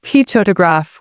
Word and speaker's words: photograph: For example, say ptoraph with extra emphasis on the first syllable.